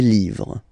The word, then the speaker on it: livres: and then same rule, you just write livre, and then you put S at the end, but then you don't pronounce it, les livres.